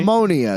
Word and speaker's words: Mamunia: say it I mean it's spelled munia right call mamonia is what they're singing yeah but it's spelled mamonia Mia but it said mamonia mamonia well what you when does a u sound like an O you say mamonia